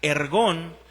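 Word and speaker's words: ἔργον: La palabra obras viene de una palabra griega que que quiere eh una palabra griega que se pronuncia ergón, que quiere decir, "Yo conozco tu trabajo, yo conozco tu esfuerzo, yo conozco tu compromiso, yo lo conozco.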